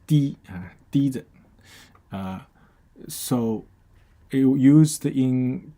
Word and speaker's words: 提: Okay, so it's pronounced di, di.